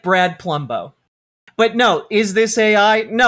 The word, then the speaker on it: Palumbo: I just is his real name Plumbo? No, it's his real name is Brad Plumbo. But I see we're getting hung up on this again. It's spelled Palumbo. So if I were to overpronounce it, it would be Palumbo. Like Columbo, but Palumbo.